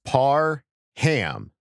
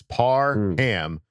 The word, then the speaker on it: Parham: it's part of him emphasis on the ham so sorry par hammy